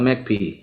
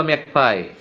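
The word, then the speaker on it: magpie: The word ম্যাকপাই বা ম্যাকপি? যাকে আমি একটা স্পেশাল লাইফলাইন দিয়েছি, পার্ডন মি, এবং 3 পয়েন্ট কেটে দিয়েছি। তোমাদেরকেও দিব, বলো। তোমাদেরকেও দিব, আস্তে আস্তে দিব। বলো, ম্যাকপি বা ম্যাকপাই দুইভাবে উচ্চারণ করে মানুষ।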